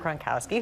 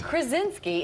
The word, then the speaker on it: Krasinski: So your husband, actually, John Gronkowski, who everybody... Oh, that is... Gronkowski? That was an interesting pronunciation. Maybe he wants to be Rob Gronkowski. Gronk and Krasinski. Right? Gronk. John Krasinski is in the movie with you.